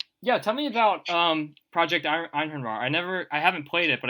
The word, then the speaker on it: Einhorn: Nobody knows how to pronounce it because it's a weird Norse word, but I believe it's pronounced Einhorn. Okay. And I only know that from playing a lot of Age of Mythology back in the early 2000s, because that's how they pronounce it. So that's how I'm saying it.